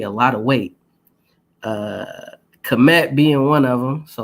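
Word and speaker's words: Kmet: yards of a touchdown if you don't know what comet is commit that's spelled k-m-e-t cold commit I want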